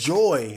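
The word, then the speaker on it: JOI: It's, if I remember correctly, it's just joy, like it's upbeat, like joy, but it's spelled in like just a different way. Instead of like J-O-Y, it's J-O-I, you know, just being a little fancy with it.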